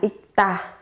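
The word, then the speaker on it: 읽다: Trong tiếng Hàn sẽ là ikta, ikta. Các bạn sẽ phát âm là ikta. Gấp đôi phụ âm tờ ở cái âm tiết đằng sau lên.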